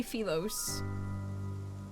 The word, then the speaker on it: Philos: They say Pho. I say felos. We are not the same.